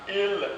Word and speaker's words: ils: La cinquième particularité du français parlé, c'est quand il au pluriel et elle au pluriel est prononcé i. Ils vont au cinéma, ils vont au cinéma. Donc le L et le S ne sont pas prononcés.